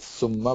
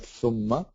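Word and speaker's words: ثُمَّ: When you say Thumma, so you have to pronounce the Tha properly. Thumma with the, not Summa, but Thumma. Okay. So there's a slight difference where you put the tongue when you're pronouncing the Seen versus the Tha, and so on.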